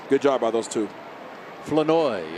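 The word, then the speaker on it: Flournoy: Flanoy. It rhymes with annoy.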